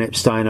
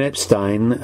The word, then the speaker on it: Epstein: i've been saying brian epstein um because that's how he said it but his family always pronounced their surname as epstein which is why there